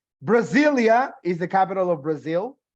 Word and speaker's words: Brasilia: But the capital city, Brasilia, remains with the S. Ahora, recuerda que la S también suena como Z, Brasilia.